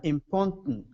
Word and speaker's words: important: I don't release it so import important yeah important glal do we say GL glal um it's